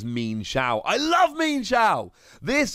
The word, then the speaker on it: Mienshao: so much fun and i have checked the pronunciation it definitely is mean shao i love mean xiao